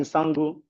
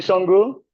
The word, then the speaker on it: Sango: And this is a homage he pays to Alafin Sango, an ancient Yoruba king. Is it? Okay, Shango.